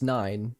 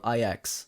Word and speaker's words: IX: description okay next is IX at first I thought the name was nine but they pronounce it in the game IX the nahility all progress